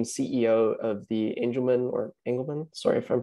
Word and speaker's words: Angelman: background amanda became ceo of the angelman or engelmann sorry if i'm pronouncing it angelman adrian yeah angelman syndrome foundation in 2019 uh before that she